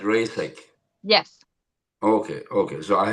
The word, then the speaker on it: Reisek: And yours is not rice but reek.